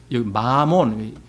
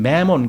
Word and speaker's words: 맘몬: 만원이며 부유한 것이라고 말한다이 맘몬 이건 사실 마몬 영어식 발음이 마몬 매몬 그리죠 영어식 발음 은 몬데 우리는 그냥 만 이렇게 읽죠 이게 이제 아람어로 재물이라는